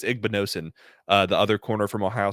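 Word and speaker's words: Igbinosun: He beat Noah Igbenogany, or not Igbenogany. It's Igbenosin, the other corner from Ohio State.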